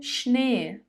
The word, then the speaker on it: Schnee: Der Schnee, der Schnee.